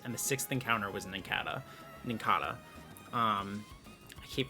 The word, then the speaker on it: Nincada: the sixth encounter was Ninkata. Ninkata. Um I keep pronouncing it differently. I think it should be Ninkada because I say Cicada and that's what it's based off of, but I feel like almost everybody says Ninkata.